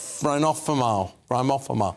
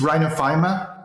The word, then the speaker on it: rhinophyma: um what is uh I'm sure I haven't pronounced that correctly Rhino rhinophenophomore what is it but it's rhinophyma which is a rare